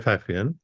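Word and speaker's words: Pfaffian: exist are apparently called fafan I don't know if I'm pronouncing that right but it has a p which I assume is silent yeah yeah it is a fafan and Mina and I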